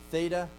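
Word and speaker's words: θ: This is letter chi, theta, and phi. Okay, now this is how you learn to pronounce them traditionally. Chi, theta, phi. Okay? But that's not how they were pronounced then.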